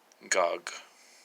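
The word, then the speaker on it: גג: would actually be pronounced gog. So the two gimels, and the alef is added in phonetically, but not in the written version.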